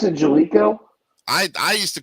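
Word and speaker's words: Jaleco: He pronounced it Jalico. I used to call it Jelco.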